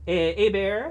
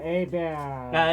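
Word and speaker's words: Hebert: Now, next, Kyle Airbear, or Kyle Herbert, as most people are probably familiar, but it's pronounced Abear. Abear.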